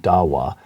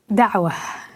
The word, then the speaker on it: Dawa: written this book about it the challenge of Dawa which I'm sure I'm mispronouncing would you just first of all pronounce it correctly and then tell us what it means Dawa is the way it's pronounced and what it